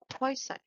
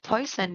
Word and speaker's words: Poisson: it poisson Hua but in English we called it we generally called it poison all right now let's define poisson or poison distribution in statistics a